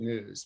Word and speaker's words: gnus: company uh is good news but it's spelled kind of funny uh what's the story behind that yeah so uh it spelled good and then gnus which is a wildebeest a new uh and uh my